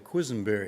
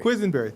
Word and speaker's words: Quisenberry: we don't need it's just okay I'll even pronounce it for you quizenberry quizenberry thank you that's q-u-i-s-e-n-b-e-r-r-y okay uh Quisenberry